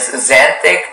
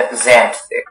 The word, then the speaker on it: xanthic: There is xanthic and xanthic.